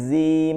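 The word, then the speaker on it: جيم: হবে না সা জিম জিহ্বার মধ্যভাগটা জিহ্বার মধ্যভাগ তালুর সাথে লাগায়া জিব্বার মধ্যভাগ তালুর সাথে লাগাইতে হবে উপরের যে তালু মধ্যখানটা তালুতে লাগাইতে অন্তরজর যারা পড়ছি আমরা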